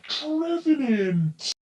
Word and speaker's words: Trevenant: It's pronounced Trevenant.